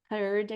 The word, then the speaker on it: third: Third aqui também com o somzinho do TH. Third.